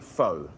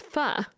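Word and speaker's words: phở: Guys, we're going to make fo, a classic French Vietnamese dish, which actually he's not even pronouncing it right. Right. Right. It's fur. It should be called fur.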